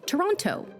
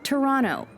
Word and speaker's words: Toronto: tourist is to say Toronto locals say Toronto they don't pronounce that second T you can even get